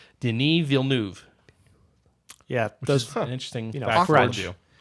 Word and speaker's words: Denis Villeneuve: Denis Villeneuve which is he's now it's not pronounced Denis Villeneuve it which I think I've said several times on the podcast I actually looked it up and found out no it's pronounced Denis Villeneuve yeah those fun interesting gradual and he also